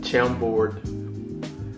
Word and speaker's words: Chambord: So anyway, what I'm going to make a Chambord, how do I pronounce this? A Chambord, there it is right here, a Chambord Manhattan.